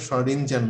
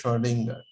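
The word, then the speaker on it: Schrödinger: আর উচ্চারণটা শ্রোডিঞ্জার না, উচ্চারণটা হচ্ছে শ্রোডিঙ্গার।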